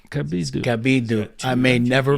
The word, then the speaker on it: Cabiddu: Cabiddu, but in Italian you pronounce my last name Cabiddu. Cabiddu. Cabiddu. I may never pronounce it the other way again. Yeah. Same. He's Okay, that's cool. Yeah, it's because of the two D's.